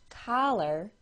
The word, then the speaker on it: collar: words caller c-a-l-l-e-r and collar c-o-l-l-a-r c-a-l-l-e-r is said by most with an aw sound caller c-o-l-l-a-r is said by most with a short o sound collar I'll say them